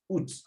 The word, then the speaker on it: août: And août, the U keeps the sound U.